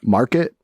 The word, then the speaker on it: MRKT: Market. MRKT is how they spell it, like without the vowels.